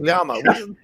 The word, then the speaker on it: llama: Yama is how you say it in Spanish, motherfucker.